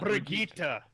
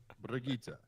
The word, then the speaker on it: Brigitte: It is Brigitte. Not Brigitte. Brigitte. Okay. All right, you'll get to roll the R, nothing but Brigitte.